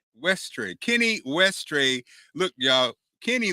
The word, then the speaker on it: Westray: kenny how do you say your last name ashtray westray kenny westray look y'all